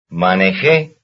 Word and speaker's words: manejé: Manejé. Manejé sounds like the last one.